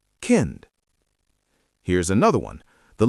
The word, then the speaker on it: Kind: which means child also ends with t while pronouncing. Listen. Rad. Kind.